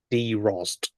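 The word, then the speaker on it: Drozd: thrush in English oh nice s Focus it's pronounced d Ros okay which is the world's first hard active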